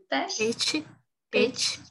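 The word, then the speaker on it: Pécs: a BME e PECS, é PECS que pronuncia? PET.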